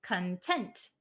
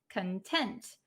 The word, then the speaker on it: content: Um so this one content has a different pronunciation. The one that we're talking about today is content. The one that means happy or satisfied is content. Content.